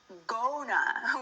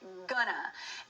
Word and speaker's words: gonna: We do not say gona. We say gonna. It's as if it were spelled gu n a.